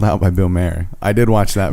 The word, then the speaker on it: Maher: i did watch that bill maher mar yeah mar my like m-a-h-r is that how you spell it like m-a-r mar like like but that's not how you spell his name but that's how it is hey you know what